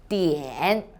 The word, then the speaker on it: 点: hello i'm sunny the word of today is dn in this video i will teach you how to pronounce it how to write it and how